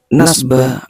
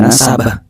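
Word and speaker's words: نَسَبَ: Nah, kemudian beliau mengatakan di anna nasba ba'alawi la yu'rafu, harus memberi tanda-tanda tengah, kata bahasa pondok. Beliau salah bacanya. Bi anna nasaba ba'alawi, bi anna nasaba ba'alawi, atau nasaba bukan nasba.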